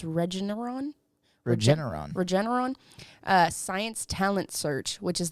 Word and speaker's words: Regeneron: the national stage at the, I think it's pronounced Regeneron Science Talent Search, which is the country's oldest and most prestigious science and math competition for high school seniors.